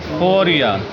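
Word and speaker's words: فوریه: فوریا، کیا؟ فوریا۔ مارچ کو مارس، اپریل کو آوریل، اپریل کو کیا کہیں گے؟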